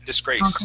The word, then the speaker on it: disgrace: So, the accent is at the end. Disgrace.